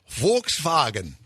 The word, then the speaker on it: Volkswagen: And by the way, Volkswagen is pronounced Volkswagen.